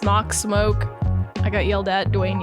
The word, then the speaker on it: SMOK: smoking he's a cool the guys there said it was smoke I was like okay okay how do you pronounce that because we always pronounce it schmuck yeah smart smack yeah